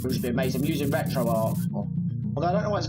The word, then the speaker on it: RetroArch: or a misspelling but i always read it as retro r arch but everyone says retro arc but that's neither in